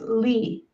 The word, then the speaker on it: Legh: oh someone asked about how to pronounce my last name it's lee l-e-e anyway um i i